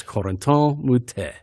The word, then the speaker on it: Corentin Moutet: You're saying it wrong. It's Corentin Moutet.